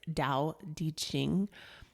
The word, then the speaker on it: Tao Te Ching: In our American eyes, we would say Tao, but it's Tao Te Ching. And I think it's Taoteching.